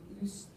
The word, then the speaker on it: Lucia: Lucia. I can't, how do Americans say it? Lucia. Lucia, thank you. That's exactly the same as I say it. It's the same in British English.